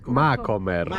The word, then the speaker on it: Macomer: no, come si pronuncia? Macomer.